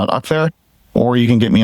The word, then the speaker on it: Akhtar: first name dot last name, so it's Akhtar. Or you can get me on X, which is _NUA. So is spelled.